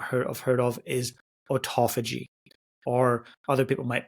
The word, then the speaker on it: autophagy: And the last one that you may or may not have heard of is autophagy, or other people might pronounce it autophagy.